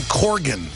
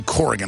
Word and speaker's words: Corgan: for your mind Billy Corgan I always say Corgan I know it's Corgan I've known him for a long time he's so nice to put up with that when I say it wrong one of the guys